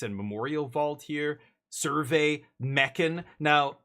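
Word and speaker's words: Mechan: Survey Meccan. Now, I don't know how you pronounce it around the Hamhawks community, but I prefer Michan.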